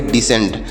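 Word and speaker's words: descent: सी ई एन टी तो इसे पढ़ेंगे डिसेंट आगे देखते हैं प्यारे बच्चों समझ में आ रहा है यहां पर सी साइलेंट है इन शब्दों में ए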